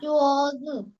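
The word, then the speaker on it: 桌子: 昨日 হ্যাঁ চোজ এই এটা হচ্ছে তুমি ধরেই ছেড়ে দিবা, কারণ এখানে কোনো টোন নাই, এটা নিউট্রাল টোন।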